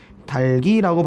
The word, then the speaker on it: 닭이: 자, 만약에 닭이라는 발음에다가 플러스 조사 이가 됐다. 그 다음에 박이라는 단어에다가 플러스 조사 이가 됐다. 발음을 할 때 이것은 달기라고 발음해야 되지만 이것은 박기라고 발음합니다.